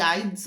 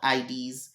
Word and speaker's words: Ides: enjoy your sleep is not tomorrow boy the IDS of March isn't tomorrow Lucius the IDS of